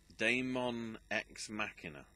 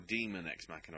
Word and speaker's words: Daemon X Machina: Daemon X Machina, and that's or Demon X Machina, I guess. Yeah, that's how you pronounce it. Demon X, as in the letter X, and then Machina.